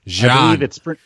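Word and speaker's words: Xi'an: I believe it's pronounced the same way that the syllable she is pronounced in Romanized Chinese. So XI in Romanized Chinese means like she or ji, and that's how they pronounce it in this one.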